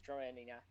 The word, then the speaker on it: Droenia: Droenia. I mispronounced that. It's Droenia. Alright, 1 second. Let me find Already, that I one. think. Drainia.